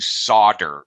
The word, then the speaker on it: solder: It's SOLDER to solder. It's a strange word. The L is silent.